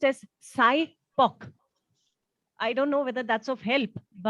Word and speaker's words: SIPOC: And it's pronounced as SIPOC.